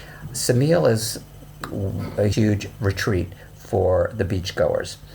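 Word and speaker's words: Ksamil: adjoins it which is called Samuel which is actually spelled with a K Samuel is a huge Retreat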